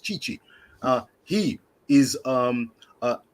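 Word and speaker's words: Tite: our men's manager uh chichi t-i-t-e pronounced chichi uh he is um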